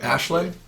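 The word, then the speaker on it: Aisling: not easily no but I think it's like Ashlee I think they pronounce it like Ashlee it was on [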